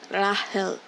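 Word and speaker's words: 라헬: translated to Rachel, but the Korean like untranslated version, it's Rahel. Rahel. Like, if I had to spell it out, Lahel. That's how they write it in Korean, and in Japanese they also stuck to Rahel.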